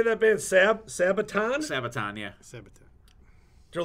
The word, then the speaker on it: Sabaton: now how do you say that man sabaton sabaton yeah sabotage they're like irish